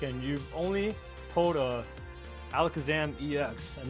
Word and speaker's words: Alakazam: It's Alakazam. I call him Alakazam. No, it's Alakazam. Why? That's how you pronounce his name.